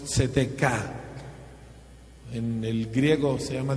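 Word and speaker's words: צדקה: una pobre traducción de una palabra hebrea que se pronuncia más o menos tzedekah.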